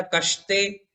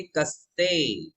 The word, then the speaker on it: कस्ते: देखिए स श अलग है, शक्कर वाला श अलग होता है, समय वाला स अलग होता है। दोनों के उच्चारण में अंतर है। समय वाला आप पढ़ेंगे कस्ते, तो ये समय वाला स हुआ। और आपने पढ़ा कष्टे, कष्टे कर दिया तो वो शक्कर वाला श हो गया, उसका अर्थ भी बदल गया, है ना। इसलिए हम पढ़ेंगे कस्ते।